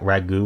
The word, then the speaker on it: ragout: what a ragout is ending in a silent te oh is it raag Ragu or something I was